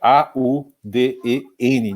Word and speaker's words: Auden: Auden.